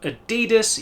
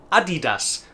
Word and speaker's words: Adidas: Well, if you are saying something along the lines of Adidas, you are some way off the mark. It is in fact Adidas, as it was named after its company founder, Adi Dassler.